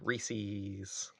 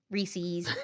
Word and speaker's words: Reese's: just pronouncing it correctly Reese's Reese's Reese's wait is that not right Reese's it's not re I love it I like more rees's pces it Rhymes and it's fun Rees people it's Reese's Pieces that's why they